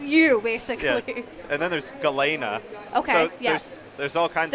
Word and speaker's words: Galena: your ability it's pretty good okay I like Galena but some people pronounce her name differently as galinha I like her a lot people fight about